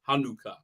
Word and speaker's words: Hanukkah: Hanukkah is how you say it.